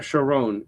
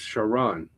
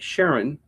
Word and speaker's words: Sha'ron: By the way, it's not Sha'ron, it's Sha'ron. Okay? It's spelled like Sharon, but it's pronounced Sha'ron.